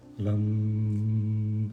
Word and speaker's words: Lam: uma ter Lan e a pronúncia correta lá não sempre com os lábios fechados lá não o ok então falamos